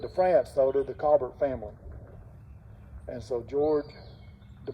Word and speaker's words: Colbert: blank callbert was from france it was not colbert it's cobert in the article i was reading it had a pronunciation spelled out james cobert's name was k